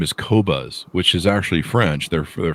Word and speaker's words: Qobuz: And they have some of the highest quality, high-res music in the world, but for the longest time, I couldn't pronounce their name, and it's Qobuz.